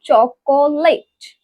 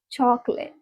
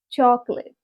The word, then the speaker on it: chocolate: Now again the word like we have been pronouncing for so long, the wrong pronunciation. That is not chocolate. It's not divided in 3 words like chocolate. It's chocolate, chocolate.